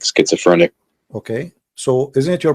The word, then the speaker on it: schizophrenic: would not accept him because he have what japhenisia you said that right i don't know how to say correctly say it again please how do you say that word uh schizophrenic schizophrenic okay that's that's a big word for